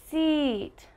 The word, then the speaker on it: seat: between e and e is that while my tongue is still on the back of my teeth i have almost a smile a longer sound and i'm smiling seat seat so you can